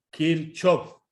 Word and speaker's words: Kirchhoff: bueno veamos lo siguiente leyes de kirch off algunos pronuncian kirch o es lo mismo se refiere a lo